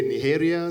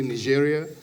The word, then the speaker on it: Nigeria: Uh some people say Niharia, some people say Nigeria.